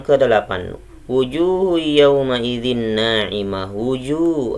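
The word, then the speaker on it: وُجُوهٌ: Wujuh ada waw sukun didahului sama jim harokat dhammah. Hukumnya adalah mad tabi'i, dibaca panjang dua harokat atau satu alif. Wujuh bacanya seperti itu.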